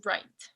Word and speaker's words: write: Bueno, sigamos con write. Write. Write significa escribir y para conjugarlo al pasado es wrote. Wrote. Otra vez, esta WR más o menos se pronuncia como R nomás. Ignoren la W.